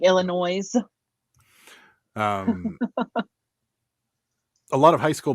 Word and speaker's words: Illinois: Pittsburghers love to pronounce the S at the end of things, like things that Illinois. don't. Yeah, they're like Illinois.